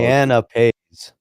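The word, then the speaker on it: canapé: It's canapes. Canapes is what it's. Canape. Say it like Gensler. There's the official Canape. pronunciation right there.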